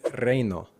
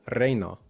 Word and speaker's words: reino: In Spanish, we only get these combined, these gliding vowels, when there are two vowels, as in reino, reino. Compare that to reno, reno, reino, reno.